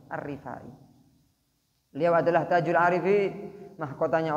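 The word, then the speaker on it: Ar-Rifa'i: waa alihi wasohbihi wasallam bacanya pakai RO kasrahnya rnya apa kasrah arifai beliau adalah Tajul Arifin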